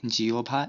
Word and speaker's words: জিহ্বা: হ এর সাথে ব যুক্ত হলে হ সমান ও বা উ এবং ব সমান ভ হয়। যেমন আহ্বান, বিয়োভল, জিহ্বা ইত্যাদি শব্দের হয় বয় সংযুক্ত।